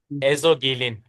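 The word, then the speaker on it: Ezogelin: Could you please Could you please give me the proper pronunciation of the soup? I missed that because I wasn't on at the beginning. Ezogillin.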